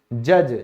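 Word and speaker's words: judge: न्यायाधीश यानी कि जज, जज में भी क्या है, डी साइलेंट है।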